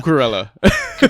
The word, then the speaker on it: Cucurella: Again, with the Brighton player coming in, who you can pronounce his name better than I can. Cucurella.